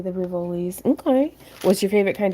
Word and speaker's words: Rivoli: No, you're saying it correctly, the Rivolis.